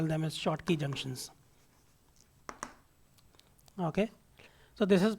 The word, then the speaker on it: Schottky: So this is pronounced as, some people pronounce it as Schottky or something like that. It is, if you were to look at the pronunciation, it looks like this, Schottky. Okay. So the pronunciation of this is Schottky, not Schottky or whatever you want to, some may call it.